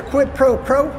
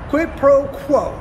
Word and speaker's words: quid pro quo: to tell trump that he asked for a quid pro pro quid pro quo that's how you pronounce it yeah yeah and then that whole